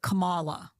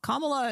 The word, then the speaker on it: Kamala: different ways um so I remember her putting the emphasis on the second syllable so it was like Kamala Cala Cala was how she pronounced it not comma not comma Kamala is actually how Indian